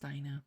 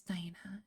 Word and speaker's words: Dinah: It's probably pronounced Dinah. I'm going to say Dinah.